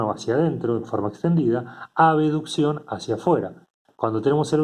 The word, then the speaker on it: abducción: Acá no está la letra E, pero para pronunciarlo diferente se pronuncia aducción y abducción.